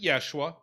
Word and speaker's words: Yeshua: was more than one there was a dude joshua they would have pronounced it yeshua and which is modernized